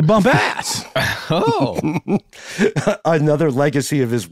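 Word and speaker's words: Bumpas: you pronounce this name it's what you do at the club y'all you bump ass oh another Legacy of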